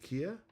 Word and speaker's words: Kia: Yeah, something I'm not very happy on Flowbyte is I prefer Kia, pronounced like the car brand Kia. Is it Kia?